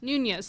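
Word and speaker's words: Nuñez: Nunez, thank you.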